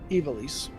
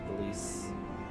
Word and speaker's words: Ivalice: Evilise. Yeah. Evilise. I've heard it pronounced both ways, but I think Evilise is the canon one. Ivalice.